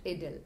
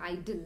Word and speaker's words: idyll: Let's talk about इडिल। सबसे पहले इडिल का प्रोनंसिएशन आइडिल नहीं है, इडिल का प्रोनंसिएशन इडिल है। You should pronounce it इडिल।